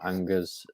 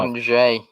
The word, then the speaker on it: Angers: 8 Nuri, of course, permanent signing from Angers. That's probably not how you say it, the French team, though. Angers.